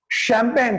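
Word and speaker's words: champagne: शैंपेन, CHMPAGNE, शैंपेन, वहां पर CH क्या बना रहा है?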